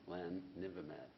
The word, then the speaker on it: bamlanivimab: How do you pronounce that, doctor? Say it again? Bamlanivimab.